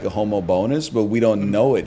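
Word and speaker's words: Homobonus: and I was like there's no way it's St homo bonus we're just pronouncing it wrong and someone typed in the Google speech and it goes Saint homo bonus I'll hear it that way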